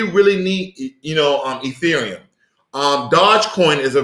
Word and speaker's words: Ethereum: ethereum okay thank forever all the people who chimed in yesterday who helped me pronounce that word i've been practicing all morning ethereum okay hopefully that's not wrong because i'm gonna just go back to eurythium but nonetheless um stellar